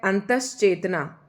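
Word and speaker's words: अंतश्चेतना: ठीक है नेक्स्ट है अंतश चेतना इस शब्द का जो उच्चारण है हम करेंगे अंतश चेतना अंतश चेतना इसे आप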